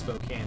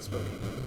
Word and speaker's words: Spokane: It's actually pronounced Spokane, everybody, not Spokane.